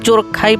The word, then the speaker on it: চুরখাই: আজ আমরা আছি ময়মনসিংহের প্রবেশদ্বার চুরখাই এলাকায়। কেউ বলে চোরখাই কেউ বলে চারখাই।